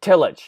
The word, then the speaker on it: Tillich: illage right is that how you say it Tillich yeah Tillich yeah Tillich and did he have